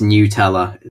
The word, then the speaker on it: Nutella: a cream I'm soon like that it's officially pronounced Nutella it just bothers me yep if you're stressin